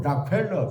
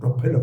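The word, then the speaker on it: Rockefeller: 영어 발음으로 락펠러 그럽니다. 근데 우리는 그냥 무식하게 록펠러 그런데 이 락펠러라는 이 사람은요.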